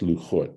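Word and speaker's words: לחת: Rashi on this points out that in the Torah itself, it's spelled lamed chet taf, and it's pronounced luchot, but there's no vav here, right?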